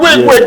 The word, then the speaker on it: Wic: call me Wick. Spell it for the people.